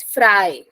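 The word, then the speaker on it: frei: say this is the word f re e i so pronunciation is fry I yeah fry then vice versa if it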